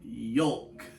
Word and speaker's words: yolk: It's a yolk. You got to pronounce the L.